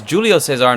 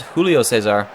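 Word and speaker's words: Júlio César: haven't pronouncing it incorrectly it is Julio Cesar not Julio Cesar Alderson however earning himself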